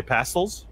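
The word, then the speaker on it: pastilles: pass deal they apparently they just say pass holes even though it's spelled pet steal what it what is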